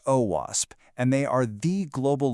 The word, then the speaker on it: OWASP: The OWASP Foundation, that's pronounced OWASP, and they are the global leaders in web